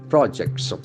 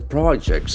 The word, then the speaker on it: project: the pronunciation be different as a noun the accent falls from the first syllable project project when it is a